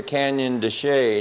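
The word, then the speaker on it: Chelly: for on a map it is spelled d c h l l y and doesn't look like Canyon desay at all but that's what they call it uh we're at the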